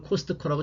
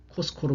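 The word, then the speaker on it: Costco: 하지만 그 현지에서는 절대 이걸 코스트코라고 절대 발음하지 않습니다. 왜냐하면 자음이 있잖아요. 그렇게 되면 이 가운데 자음은 빼버린다는 것이죠. 그러면 어떻게 되죠? 코가 되는 거죠. 그래서 코스코로 발음을 합니다.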